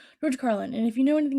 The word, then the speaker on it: George Carlin: comedians that I recently got really into is George Carlin. That's how you say his name. Sorry, I took a pause because I was thinking I could have said it wrong. George Carlin.